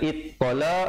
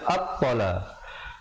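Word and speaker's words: الطلاق: Jangan baca ittala ataupun uttala, tapi baca attala.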